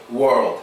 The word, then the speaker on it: world: But when you're saying world, it is good for you to protrude your lips when you're saying world. It really helps for that proper O sound to come out. Word and world. Now, another humongous difference when pronouncing these two words is that when you're saying world, your tongue is very important. It has to go from the bottom to the top of your mouth when pronouncing the L sound.